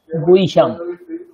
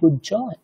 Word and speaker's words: गुह्य: গুইহ্যম, হয়জফলা ইয়াম, গুইহ। আমরা বাংলায় বলি গুজ্জ, সংস্কৃতে গুইহ্য।